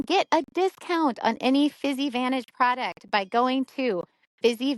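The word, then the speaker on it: Physivantage: a discount on any fizzy Vantage product by going to fizzy Vantage C fizzy Vantage is spelled p h y SI i v n t a g so like physical Advantage fizzy advantage and use my code Heather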